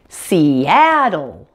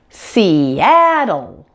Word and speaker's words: Seattle: syllable on the app and that dark L at the end and we have seattle seattle that's all there is